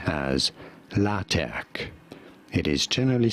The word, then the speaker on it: LaTeX: If you're talking about the software system, this is said as LaTeX. It is generally spelled with a capital T in the middle if you're talking about the software, LaTeX.